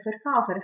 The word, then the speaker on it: Verkäufer: Qua vediamo che la A prende l'umlaut, l'ho pronunciato oi, perché se vi ricordate, la A con l'umlaut più la U vicino si legge come Freud, Freud.